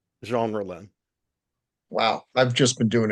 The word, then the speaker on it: Jean Rollin: Now, tell me again how you pronounce the director's name. Jean Rollin, Wow, I've just been doing it 100% wrong.